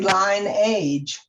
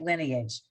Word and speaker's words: lineage: word all right so why is it not pronounced lion the rule age be if there's a vowel after the consonant that would be an i uh i don't know the answer is we just learned that we say it lineage okay so when i'm